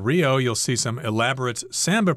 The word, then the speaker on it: samba: you'll see some elaborate Samba performances or Samba you can pronounce it both ways and again elaborate means